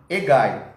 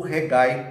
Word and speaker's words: Hegai: de um eunuco de nome Hegai, ou Regai, para quem quer pronunciar o H como R, que era a guarda das mulheres do rei.